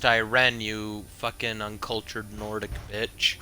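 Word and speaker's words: Ayrenn: to Auradon to meet with someone from Queen Erin's court. You might check the docks in Skywatch. If he intends to deliver another one of these medallions, you should hurry and intercept him. It's pronounced Iren, you fucking uncultured Nordic bitch.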